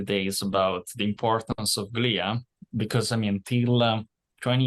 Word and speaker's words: glia: So I prefer the Greek pronunciation, glia, right? Because glia, it comes from the real word, the Greek word, glia, which literally means glue. But I mean, you can pronounce it with the English pronunciation, so it's glia.